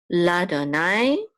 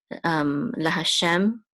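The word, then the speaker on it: לַיהוָה: Okay, and then this is a lamed with a patak, which says la, and this is the sacred name. So this is Adonai, Ladonai. That's how you would pronounce this, or you could say la Hashem.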